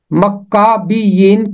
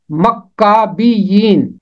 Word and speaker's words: مکابیین: کرتے ہوئے نہیں سنا۔ اس کا نام ہے مکابیین، مکابیین، اسے شارٹ کر